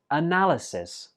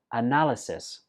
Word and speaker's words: analysis: city center nine is analysis this word has four syllables and notice that the fourth syllable is not pronounced e is pronounced uh one more time analysis for example if you're